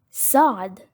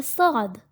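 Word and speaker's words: ص: Now let's look at another letter, Saad, Saad. This letter is pronounced harder than the letter S in English. And it is not simply S, it is Sa, Sa.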